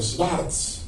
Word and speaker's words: Schwarz: un español de nombre Pedro Schwarz, los españoles pronuncian Pedro Sartz, ¿no?